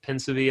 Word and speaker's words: Pensieve: like Harry Potter and Dumbledore and the Pensieve, I think is how you pronounce it, where he just like pulls the